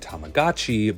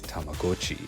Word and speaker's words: Tamagotchi: Tomodachi Japanese for friend this factors interestingly into the Brand's pronunciation early American commercials all used Tamagotchi but some more recent ads say it as Tamagotchi finally releasing in Japan